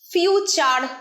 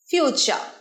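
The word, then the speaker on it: future: ফিউচার নয়, ফিউচার, রটা silent, ফিউচার।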